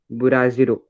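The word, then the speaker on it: ブラジル: Japanese people pronounce a little different from us. Okay, so Brazil will be Buraziro.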